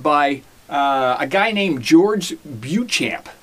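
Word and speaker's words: Beauchamp: a guy named george buchamp i think his name is buchamp that's how we pronounce it anyway he was uh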